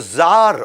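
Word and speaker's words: czar: वैसे सी जार होता है, लेकिन सी साइलेंट होता है ये इंडियन आईटी इंडस्ट्री में।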